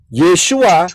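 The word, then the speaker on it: Yeshua: tadi ya paham ya jadi yesua y e s h u a itu adalah cara pengucapan nah begitu pula manakah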